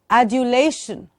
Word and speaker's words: adulation: Adulation. Adulation. And not adulation. Dernier. Adulation. Soft D from the teeth ridge.